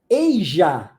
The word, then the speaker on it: Asia: de A tá an eija é um um um continente que se pronuncia o s com som de J tá então eij eij